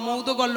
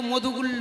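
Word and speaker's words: মৌদ্গল্য: বেশ বেশ বাহ ওমা মৌধুগল্ল্য উচ্চারণটা কিন্তু মধুগুল্য নয় এখানে আমাদের অনেক বুঝতে ভুল হয় আপনারা যারা ব্রহ্ম বৈবর্ত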